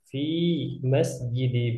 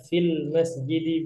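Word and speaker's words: في مسجدِ: Usolli zuhra wal asra wal maghriba wal isya'a fi masjidi Bilal. Perhatikan di sini kalau tidak ada alif lam jangan ditambah, jangan pula nanti bacanya fil masjidi Bilal Ustaz. Enggak. Jangan ditambah ya di sini fi masjid Bilal, di masjid Bilal.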